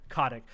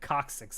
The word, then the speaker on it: Kotick: Kotick. I always pronounce it coccyx, and I'm like, that's not how it's said.